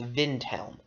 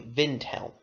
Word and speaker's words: Windhelm: the capital windel is windel is sometimes pronounced by some people as velm as if it's like German cuz in German that spelling would be vintel I have pronounced it both ways so so it doesn't